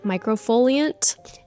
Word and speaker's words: Microfoliant: So I do a monthly facial, and then usually on a weekly basis, I will use this daily microfoliant.